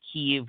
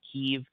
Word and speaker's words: Kiev: Alexander vidman um saying keev we saw the Ambassador saying keev either one is accurate um ukrainians today will often say that Kiev is a Russo Centric pronunciation great thank you yeah